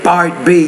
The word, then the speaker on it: part B: Notice how when you say part B, you're not pronouncing that P, it's part B.